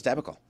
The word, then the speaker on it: debacle: I thought it was debacle.